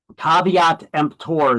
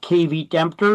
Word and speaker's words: caveat emptor: It's not pronounced kit dempter even though it's spelled that way. It's a Latin term.